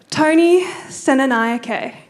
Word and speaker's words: Senanayake: I did ask Tony to tell me how to pronounce his name about 5 times because I was really worried about getting it wrong. Tony Senanayake.